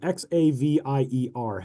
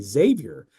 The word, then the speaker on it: Xavier: If you see the name, also the name of a university spelled Xavier, how do you say it? I've always said that just with the straight Z sound, Xavier.